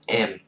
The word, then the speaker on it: em: male she's already she's female I call myself M as long as you're young it's very easy you just say M again it's spelled e m units like M we hit